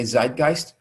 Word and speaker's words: Zeitgeist: it's actually sight guys the z is pronounced as ts in german so but people in english say zeitgeist zeit or type means